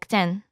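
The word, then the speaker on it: で: Let's modify t with a den. It is now pronounced as de tag is written in one stroke.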